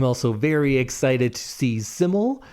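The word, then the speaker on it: SYML: I'm also very excited to see Siml. If you didn't know how to pronounce it, that's the artist that's S Y ML and it's usually always capitalized.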